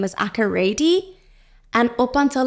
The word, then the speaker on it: Akorede: Akorede. Yeah, but most people say I say my second name wrong.